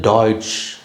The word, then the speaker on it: Deutsch: German Germany அப்படின்னு சொல்றோம் இங்க வந்து டாய்ஸ் டாய்ஸ் இங்க பாருங்க டாய்ஸ் டாய்ஸ் அப்படின்னு தான் உச்சரிக்கணும் அதுதான் அந்த மொழியோட பேரு இப்ப தமிழ் அப்படின்னு சொல்றோம்ல